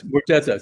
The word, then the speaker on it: Murza: When you were working with Michelle Murza, is that how you pronounce her last name? Yes, Mordeza.